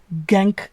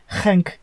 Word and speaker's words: Genk: You've got Salzburg and Genk, as the British say, or Genk, as the Belgians say.